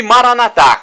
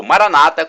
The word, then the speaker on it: Maranata: para o seu bem e Maranata como dizemos nosso católicos ou Maranata como dizem nossos irmãos separados os evangélicos ou protestantes não importa a pronúncia somos todos irmãos e